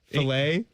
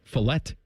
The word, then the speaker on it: filet: You just say filet. It's a filet, yeah. But the strip and the ribeyes are great. No, the British people just pronounce the T. They don't care. Fillet.